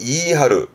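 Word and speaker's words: 言い張る: 이때 발음은 이하루, 이하루.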